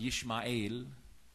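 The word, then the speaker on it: ישמעאל: The name Ismail, right, which is pronounced Yishma'il in Hebrew.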